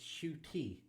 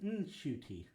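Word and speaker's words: Ncuti: said my whole life it's Sho tea as in shoe and te and after I said that on an interview I got a call from my mom she's like that's not how you pronounce it it's shoy so yeah you are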